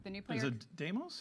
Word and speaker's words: Deimos: Is it Deimos? It's Deimos.